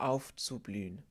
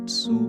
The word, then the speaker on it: aufzublühen: That TS that is the German way of pronouncing as letter Z.